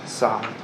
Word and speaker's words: Sartre: Sartre.